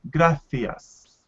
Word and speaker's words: gracias: set in other words it's pronounced similar to the th sound in english when we say think fought so in spain someone would say gracias gracias okay but in